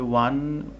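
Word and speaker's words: one: যেটি কিনা vowel letter কিন্তু যখন ওয়ান উচ্চারণ করছি ওয়ান ওয়ান ওয়া এই সাউন্ডটি কিসের মত সাউন্ড হচ্ছে ডাবল ইউ যেটি কিনা কনসোনেন্ট লেটার তার মানে এটার সাউন্ড হচ্ছে কনসোনেন্ট যার কারণে ওয়ান আইড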